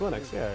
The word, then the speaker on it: Linux: made a pronounces wrong I said in Linux but I mean like Unix Linux Linux like minutes following everything - is